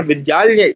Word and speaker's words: विद्यालय: विद्यालय को उच्चारण विद्यालय जैसा नहीं, वो तो कौशल्या, नहीं आप उसको उच्चारण विद्यालय नहीं कोई करता है, विद्यालय, विद्यालय। वो यहाँ पर कौन सा अक्षर है, देखिए द्या है ना, और द्या किस किस से मिलके बनता है, दा और या से। याद करिए क्या हुआ, द्या, विद्यालय, है ना।